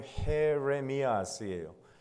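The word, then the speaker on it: Jeremías: J가 H 발음이 나요. 그래서 제레마야가 아니고 헤레미야스예요. 헤레미야스.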